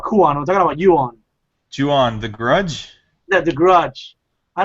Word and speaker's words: Ju-on: I don't know if you'll tell me if I'm pronouncing it right. Yuan, right? Yeah. Yeah, it reminds me of Yuan. What's the English for Yuan? It's. Damn it, I forgot. Wait, are you talking about Ju-on?